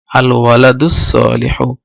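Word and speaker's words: الولدُ الصالحُ: আর আলিফ উচ্চারিত হয়নি কারণ এটা হামজাতুল ওয়াসল। এখানে যখন দালের থেকে মিলিয়ে পড়া হবে তখন এটা আর হামজা উচ্চারিত হবে না এবং লাম উচ্চারিত হবে না, তাহলে আল ওয়ালাদুস সালিহু।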